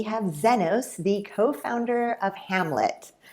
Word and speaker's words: Hmlet: Kindred's very similar where we took out the vowels and people have a hard time pronouncing it so Hamlet actually just raised 40